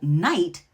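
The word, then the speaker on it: knight: For example, night, K-N-I-G-H-T, once pronounced that K and had that guttural G sound.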